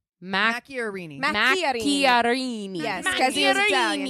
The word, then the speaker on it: Macchiarini: Macchiarini. Mac- Macchiarini. Macchiarini.